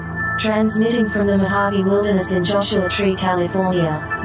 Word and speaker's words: Mojave: Transmitting from the Mojave Wilderness in Joshua Tree, California, now is the time for Desert Oracle Radio, the voice of the desert.